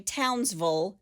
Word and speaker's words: Townsville: They say Townsville, just like we say Louisville.